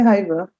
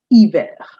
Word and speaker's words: hiver: Don't say hiver. That's not First of all, it's not her, it's euh. And it's hiver. Hiver.